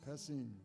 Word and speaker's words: Passim: So how do we pronounce this? Passim. Okay. Passim.